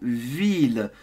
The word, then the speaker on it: ville: village alors en français le mot ville on prononce les deux ailes une ville tu dois absolument prononcer les ailes si tu ne prononces pas ce n'est pas bon donc ce n'est pas la vie parce que si tu